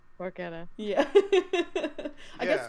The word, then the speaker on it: porchetta: I did not know that porchetta was pronounced porchetta.